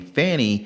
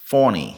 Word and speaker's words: Fani: that fton County DA goes by the name Fanny even though it's F ni and she wants it pronounced fonny like French with a little French accent I don't know I'm